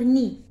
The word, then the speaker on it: nid: Les oiseaux quittent leur nid. Nid. On ne prononce pas des. Nid.